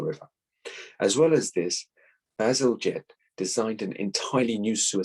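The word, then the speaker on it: Bazalgette: any other victorian official there you go joseph basil jet that's how you pronounce it and uh an engineer of his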